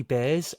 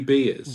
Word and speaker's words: Beers: to say tight Ed Rowdy Bears out of FIU H sorry Rowdy beers Rowdy beers and that is spelled like beers as in the alcoholic beverage and he's rowdy rowdy